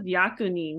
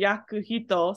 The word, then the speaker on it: 役人: Yeah, it's interesting that this is yakunin, because you would assume it would be yakuhito, since yaku is pronounced on its own. So, interesting exception right there.